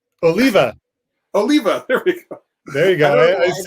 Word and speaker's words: Oliva: be able to say yostremski so um tony oliva oh leva there we go um but yeah this is